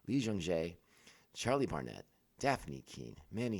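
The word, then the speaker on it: Lee Jung-jae: Our primary cast for this week's episode is Amanda Stenberg, J, Lee J. Jung. I always say his name backwards. Lee Jung Jae, Charlie Barnett, Daphne Keene, Manny Jacinto.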